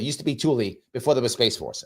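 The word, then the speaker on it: Thule: not THU it's written tul uh THU but pronounced Tulie used to be Tulie before there was space force I think I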